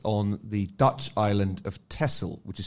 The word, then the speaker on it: Texel: uprising took place on the dutch island of tessel which is spelt texel i've been mispronouncing it for years